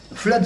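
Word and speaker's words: Fludd: d'un nommé Flood qui était d'ailleurs un maçon accepté des loges quand elles étaient encore opératives en Angleterre. Le premier de ces petits livres, Flood, ça s'écrit F L U 2D D FL euh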